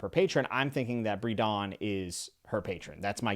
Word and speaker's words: Bredon: Bredon is how we're going to say Bredon. I looked it up on Google.